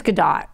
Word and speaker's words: Gadot: me, I'm pretty sure it's Gadot now. Okay, I can keep going back. I was saying Gadot for a while. Yeah, it's Gadot. Look, it's Gadot. You now. know, when I see escargot, I pronounce it escargot usually. So. But that's French, and she's from Well, Israel. good. So if I you know, pronounce it but I don't know escargot, then anything. you can say Gadot. Then I'll say Gal Gadot.